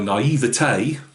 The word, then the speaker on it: naivete: Now, again, coming back into modelling, my naivete, I believe that's how you say it, or if you're around here, naivety.